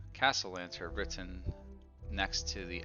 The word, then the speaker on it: Castellanter: Castellanter. Castle Lantern? Castle lantern? Not lantern. Here, I'll spell it out for you guys. Sounds like castle.